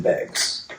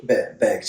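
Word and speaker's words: Beggs: time we lived in bags bags uhhuh but what's the population of bags oh bags uh am I saying it right bags with the B begs yeah it's b e g GS begs who would name a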